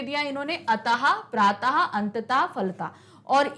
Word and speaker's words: अतः: दिया इन्होंने अतः प्रातः अंततः फलता और इस विसर्ग का उच्चारण हा से होता है किस हो जैसे बोलो